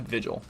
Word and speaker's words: Vigil: pronounce it it's just vigil um and I know it's probably a little confusing but it's basically the first part of vigilante um so that's kind